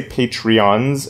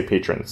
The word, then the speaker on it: patrons: always say it wrong I always say patreons and then I have to re-record and say patrons so a big thank